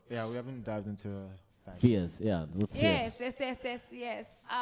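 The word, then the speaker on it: Pheus: But Is there a specific spelling for the yes, Fierce? it's P-H-E-U-S. Okay, cool. It's not spelled like the Fierce Like in Sasha English.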